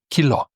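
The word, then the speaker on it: κιλό: And so this in this case you see that the stress mark is on the O. So it's pronounced kilo.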